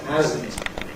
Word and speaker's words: hasn't: We pronounce this with a voiced sound, hasn't, as hasn't.